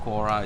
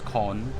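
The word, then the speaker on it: Quorn: Okay, it's not Kora, it's corn. So it's actually pronounced as corn, but it's Q-U-O-R-N.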